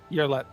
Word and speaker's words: Yerlet: Yerlet. Yearlet? Yerlet. So like a baby year. Kind of. More like ear as Oh, okay. like what you hear from.